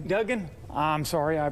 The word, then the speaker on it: Duggan: it's Duggan, right? Duggan. I'm sorry, I pronounce my name wrong all the time, but Dr.